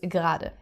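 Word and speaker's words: gerade: So you can see there is an e in the word but it's not actually pronounced. So everyone always says gra.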